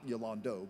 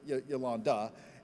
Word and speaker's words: Yolanda: otherwise maligned, in that Yolanda is spelled with an O where an A often is. Not Yolando, but Yolanda.